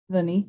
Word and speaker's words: Vounée: sure just like vanitas how do you say it bunny sure um it's funny bunny okay cool that's how i'd say it i just wrote it